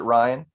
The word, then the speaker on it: Rhein: Well, my name's Rhein, my real name. Oh, so you pronounce it Ryan? Ryan, just like Okay. Ryan. It Okay. just happens to be spelled Rhein.